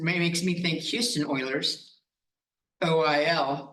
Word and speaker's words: Euler: OIL, but it does not start with O, it starts with E. Who would have guessed EUL is oil?